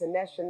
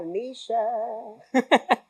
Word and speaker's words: Anesha: So one night I was in an Uber, probably inebriated, definitely probably drunk, and it's like, you know, it's Anesha, not Anisha. That's how you say my name.